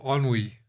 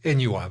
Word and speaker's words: ennui: And then we get the state of ennui. I used to think it was called ennui, but I've discovered it's pronounced ennui, which is that state of